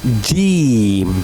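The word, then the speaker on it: جيم: So, we say jeem. Okay? Jeem. J j sound like jeem.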